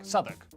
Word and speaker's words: Southwark: stir leicester worcester gloucester w at the start of the final syllable is silent norwich beric southwark er is pronounced r berkshire